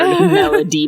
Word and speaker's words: Melody: a pronounce the d hard Melody Melody Melody yeah so